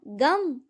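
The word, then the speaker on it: गं: गण के प्रथम शब्दांश ग का उच्चारण करने के बाद वर्णों के आदि अर्थात अ उच्चारण करें। उसके बाद अनुस्वार अर्थात म का उच्चारण करें। इसके बाद इसे अर्ध चंद्र से सुशोभित करें।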